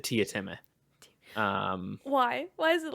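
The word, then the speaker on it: Teatime: In the book, do they pronounce it like Tome or whatever it is in the Yeah, so it's written Tea Time, right? But yeah, he pronounces it Tia Time.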